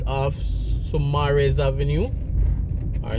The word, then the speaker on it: Saumarez: So this is a cul-de-sac, a circle right off Saumarez Avenue, or Saumarez. So it's spelled S-A-U-M-A-R-E-Z.